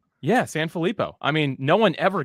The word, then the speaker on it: Sanfilippo: i'm pretty sure you said it right sanfilippo yeah san felipo i mean no one ever gets it i